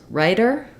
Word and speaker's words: writer: most important thing is you want to use a flap sound uh and they should sound pretty much the same this one is a little bit longer here this one's a little bit shorter here okay then when we